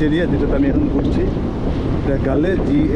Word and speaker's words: Galle: গালে GALLE গালে, এটা উচ্চারণ গালে, কিন্তু ওরা সবাই গোল্ড বলে। যাই হোক, এটা ওদের ব্যাপার, গোল্ড বলে।